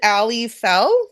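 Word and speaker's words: Aly Fell: deck that you co-created with um is it Ali Fel did I pronounce that right yeah you did we each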